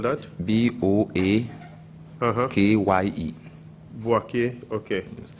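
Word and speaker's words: Boakye: How do you spell that? B-O-A-K-Y-E. Boake.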